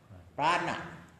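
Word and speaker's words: प्राण: Prana, prana, okay, pran. Yeah, how you pronounce? Well, it's prana and pranayama is the breathing.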